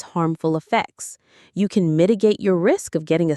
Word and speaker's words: mitigate: Mitigate. Mitigate. Stress on the first syllable. Mitigate. To mitigate something means to make it less severe, less serious, or less painful.